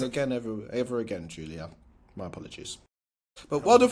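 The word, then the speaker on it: Giulia: Um, so yeah, disclaimer uh before we carry on, I have to apologize to Julia, not Jalia.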